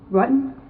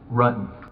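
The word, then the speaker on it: Ruetten: John Rutten? Rutan. The investigators already knew how to say John Rutten's name correctly. The mispronunciation was a simple strategy to see how the suspect would react.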